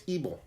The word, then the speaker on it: Ybel: And the person who sent me the beer, I actually commented, I'm not quite sure how to pronounce the name, and he actually told me, so it's Ybel.